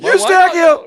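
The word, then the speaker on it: Eustáquio: And it's not Kobe in this country. No. Eustachio! Yeah. And why not? And we'll go through it more tomorrow. We're the only country that knows how to pronounce the kid's name properly.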